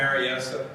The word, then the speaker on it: Berryessa: at Lake Berryessa um we call it Berryessa you know put a good Accent on the close things